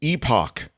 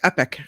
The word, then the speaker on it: epoch: called the anthropocene epoch you say Epoch because I say epic did I get do I get it wrong yeah you got it wrong oh epic is epic this is Epoch Epoch I don't take